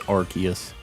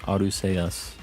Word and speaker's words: Arceus: I think the official pronunciation is Arceus. I've always said Arceus, so I can't, like, not say it like that now. But yeah, I'm pretty sure the official is Arceus, even though I, like, kind of pretend to argue about it on here. In Japanese, it's pronounced Arceus, like with an S.